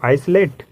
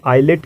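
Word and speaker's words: islet: लोग क्या कहते हो, आइसलेट? नहीं गाइज, इसे आइसलेट नहीं, आइलेट कहते हैं। यहाँ भी आई और एल के बीच में क्या है, एस है। इट मीन्स कि यहाँ एस को प्रोनाउंस नहीं करेंगे, तो इसे क्या प्रोनाउंस करेंगे, आइलेट।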